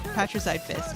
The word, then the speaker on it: Patricide Fist: hell sweep and is it Patricide Fist or is it Parasite Fist? I can't I don't I never know how to pronounce this. It's uh What's up, Foxy? It's daddy killing fist. How you doing? Patrice Fist. Patricide Fist.